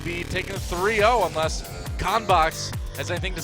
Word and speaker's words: CONBOX: In English, it's CONBOX. because it's like contents box.